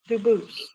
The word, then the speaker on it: Dubus: same exact spelling in America, and they do pronounce it Dubus, but you said you pronounce it Bus, Bus. as the original bus, as the original French. Yep. Very well. Dubus.